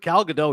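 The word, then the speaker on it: Gal Gadot: was the announcer incredible did he say galgadot yes do I have her last name wrong no no you're right galado is correct and he screwed it up and he did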